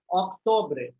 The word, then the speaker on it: octobre: Septembre is the pronunciation. Okay. September. Octobre.